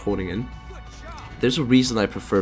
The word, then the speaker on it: Groningen: Like, there's a reason I prefer Groningen, the Groningen, I'm pretty sure it's pronounced Groningen.